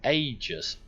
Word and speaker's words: Aegis: coming out the back is it pronounced RGS or aegis dyslexia ah I know it's called ages but I keep pronouncing the ideas yeah you can see